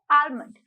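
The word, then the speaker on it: almond: की इंग्लिश होती है आलमंड आलमंड आलमंड आलमंड आलमंड और आलमंड भी बोल सकते हो एल साइलेंट भी हो सकता है डेट इसे डी डिफरेंस बिटवीन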